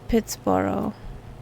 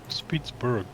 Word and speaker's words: Pittsburgh: And there's Pittsboro. It's written Pittsburgh, but the locals say Pittsboro. Do they? Do That's it. interesting. I would have always said Pittsburgh, but Yeah, because the people who settled there were Scottish.